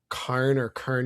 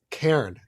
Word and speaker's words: Cairn: So he teaches a course at Kern University. I always mispronounce Cairn.